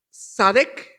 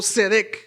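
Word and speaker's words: צדק: Dios es justo Amén la palabra justicia en el hebreo se pronuncia sadec o cedec y esta palabra tiene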